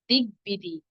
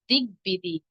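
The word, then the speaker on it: দিগ্বিদিক: এর সঠিক উচ্চারণ হবে দিগবিদিক। দিগবিদিক। কেন? গ এর সঙ্গে ব যুক্ত আছে।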